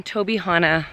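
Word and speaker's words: Tobyhanna: So it's Tuesday, and I am in Tobihana State Park. I think that's how you say it.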